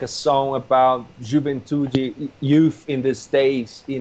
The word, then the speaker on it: Juventude: I don't know how to pronounce it. Juventude? That's Juventude.